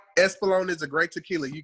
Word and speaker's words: Espolon: Epsilon. Espolon.